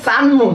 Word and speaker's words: সানমুন: আচ্ছা সরি, আচ্ছা একজনের উচ্চারণটা হচ্ছে গিয়ে সানমুন। হ্যাঁ, আমি হয়তো সুমন সুমন বলতেছিলাম, সরি সরি সরি, সানমুন।